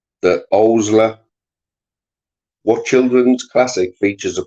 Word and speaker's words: Owsla: What children's classic features a police force called the Owsla?